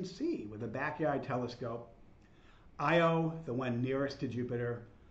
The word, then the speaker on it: Io: bright because its massive IO I'm one that is spelled and pronounced the same way looks a little bit